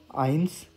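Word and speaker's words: eins: तो इसको मैं ना इंग्लिश में भी लिख देता हूँ यहाँ पे, ताकि आपको थोड़ा सा एक प्रोनाउंसिएशन का आइडिया हो जाए। नुल, आइंस, स्वाय, त्राय।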